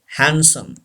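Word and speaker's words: handsome: हैंडसम. से this word. हैंडसम. डी इज not pronounced.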